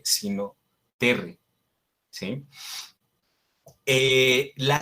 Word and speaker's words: terrae: Esos diptongos siempre predomina la E. Entonces, cuando leemos terrae, se pronuncia terre.